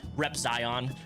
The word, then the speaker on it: Repzion: First of all, I just love it when people say Repzion. Um considering how much I say my name online, it's Repzion.